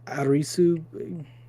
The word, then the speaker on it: Arisu: close it's just a linguistic thing so yeah arisu being analogous to Alice I guess but like